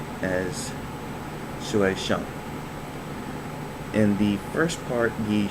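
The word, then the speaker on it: 学生: on next word is student and that is pronounced or said as shueishan in the first part the shui which is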